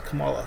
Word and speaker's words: Kamala: makes history by choosing camila harris as his running mate if elected oh yeah that's kamala sorry i mispronounced that uh if elected she